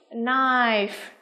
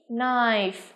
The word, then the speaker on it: knife: một cái nhóm từ mà có âm k, là âm câm đúng không? Đó. Chúng ta phát âm nào. A chúng ta có từ nhì, ok. B knife, C kiss, and D no.